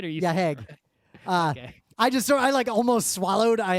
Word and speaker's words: Hague: Yeah, Hague.